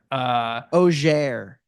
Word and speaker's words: Auxerre: you pronounce it? Okay. Auxerre.